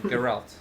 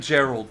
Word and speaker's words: Geralt: a Witcher garage that's that's how you say his name geralt look I I call him I call him Gerald to piss people off but are you calling girl out no isn't that garage it's geralt it's Gerald no it's not